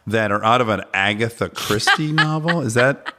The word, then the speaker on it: Agatha Christie: turns I know that are out of an Agatha Christie novel is that how we say her name